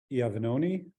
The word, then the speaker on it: Iovannone: We are welcoming for our 11 o'clock slot, Jeff Iovannone. Did I pronounce that right?